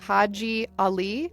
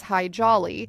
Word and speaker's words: Haji Ali: he wanted to change his name to Haji Ali, which got mispronounced by Americans as High Jolly when he was recruited by the U.S.